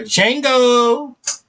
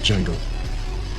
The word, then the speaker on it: Django: But I call that boy Jango.